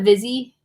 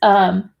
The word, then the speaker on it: Vizzi: So this is the Vizzy. Am I saying it right, Michelle? Vizzy? It's Vizzi.